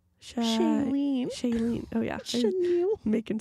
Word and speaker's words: Shailene: Chenille? Shailene.